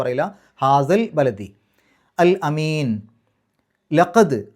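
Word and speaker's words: لَقَدْ: ലഖദ്, അവിടെ ദാലിന് സുക്കൂന് കൽക്കലത്തിൻ്റെ അക്ഷരമാണ്, എടുത്ത് പറയണം. 5 അക്ഷരങ്ങൾക്ക് സുക്കൂന് വന്നാൽ അതിനെ എടുത്ത് പറയണം, കുറച്ച് ഗൗരവത്തിൽ പറയണം, അല്ലെങ്കിൽ കട്ടിയിൽ പറയണം.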